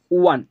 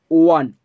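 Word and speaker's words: one: ওকে, কোথায় দেখলাম, অন the table, দেখো ওয়ান, আমরা জানি ও এর উচ্চারণ ওয়ার মতো হলে, ওয়ার মতো হলে কি বসে, এ বসে, ওয়ান ওয়ান ওয়ার মতো হচ্ছে তাই এ বসলাম, যদি না হতো তাহলে কিন্তু অ্যান বসতো।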